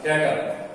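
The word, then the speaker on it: debtor: Next है हमारे पास डेटर। देखिए पी साइलेंट होता है, इसलिए डेटर कहते हैं।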